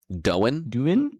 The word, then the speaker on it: Doin: I think it's Doin. Doin? Doin? What you doing? I would pronounce it as Doin. On your 7-year-old PC, bro. Okay. It is Doin.